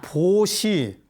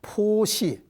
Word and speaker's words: 보시: 원래 이거는 포시입니다. 포시. 그런데 포시라고 읽지 않고 우리는 보시라고 읽습니다.